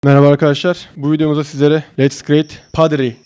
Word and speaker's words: Let's Create Pottery: arkadaşlar bu videomuzda sizlere Let's create padri diye okunuyor çömlek yani Hadi hep beraber